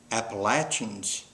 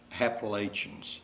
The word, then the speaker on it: Appalachians: Remember, my friend, it's pronounced Appalachians, not Appalachians.